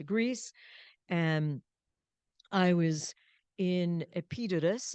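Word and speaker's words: Epidaurus: and I was in epitus is how you say it in Greece or epidor and um my mom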